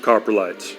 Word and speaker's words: coprolite: Okay, before you go on there, coprolite, I think is how it's pronounced.